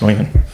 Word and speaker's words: Neumann: And it's not an accent. That's how it's pronounced, Neumann.